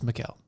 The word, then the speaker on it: Michael: pfc michael rubino mm-hmm probably michael but it's mikael yeah so it's spelled yes